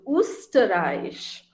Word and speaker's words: Österreich: O umlaut is U. So Österreich. Österreich is the German word for Austria, the country Austria. Okay, the country Austria in German is called Österreich.